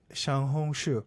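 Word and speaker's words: 小红书: Xiaohongshu. Xiaohongshu. Yes. That's how you pronounce it.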